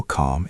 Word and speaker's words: calm: It helps me feel calm and ready. Notice how the word calm has a silent l. We do not say the L sound. We just say calm.